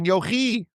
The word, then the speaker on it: Yochai: Comes along Rabbi Shimon Bar Yochi. Some people pronounce it Yochai. I like Yochi.